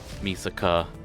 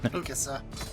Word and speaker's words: Mikasa: Not so much the personal drama between Misaka and Eren. Mikasa.